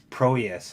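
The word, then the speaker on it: Prohías: Bob Clark gets to stay black and white, but Proeus has to. I keep trying to pronounce that H.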